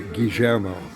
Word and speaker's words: Guillermo: but in Spanish it's Guillermo, and in Argentine Spanish, which has an influence of Portuguese from Brazil, they would say Guillermo. They pronounce the double L differently in Argentina Spanish.